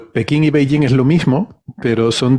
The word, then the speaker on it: Beijing: Cuando realmente la pronunciación se parece más a Beijing, pero bueno, era la forma en la que ellos lo escribían.